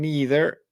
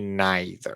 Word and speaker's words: neither: otras que dicen either hay unas que dicen neither y neither las dos pronunciaciones son aceptadas las dos son comunes y las dos son